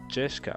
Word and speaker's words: Jessica: You see, Jeshika is pronounced Jeshka.